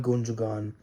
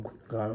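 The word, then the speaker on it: Gündoğan: Is Inigo Martinez, Inkai Gundogan, or Gundogan, how we pronounce his name.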